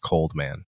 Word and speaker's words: Cold X-Man: name is cold x-man although the x is silent just pronounced cold man coleman hughes thanks for